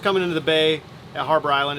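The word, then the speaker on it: Harbour Island: I found out that the H is actually not pronounced. It's Arbor Island. Arbor.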